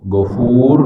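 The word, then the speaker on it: غفور: Tapi kalau gfur kita membacanya dengan monyong ya, gofur gitu ya, itu beda maknanya, nuansanya beda.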